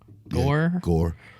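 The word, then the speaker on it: Gorr: yeah as g-o-r-r how do you say that gur gur g-o-o-g-o-r-r gore gore the god butcher do you know that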